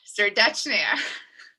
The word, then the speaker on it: Serdetchnaia: Notice how I did not pronounce the second T, something that I've learned.